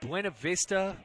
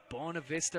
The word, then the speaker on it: Buena Vista: think about ah there's there's buena vista in in virginia and i think that's pronounced bona vista or something that's just not correct 2-2 so we're going